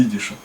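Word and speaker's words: ייִדיש: Лимит in Yiddischen Алефбейс, в алфавите идиша. Вот. Идиш произносится в идише как идиш, вот, потому что ид это еврей.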